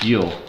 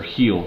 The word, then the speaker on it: Gil: I really don't like Luis Gil, or Heel, I guess is how you pronounce his name.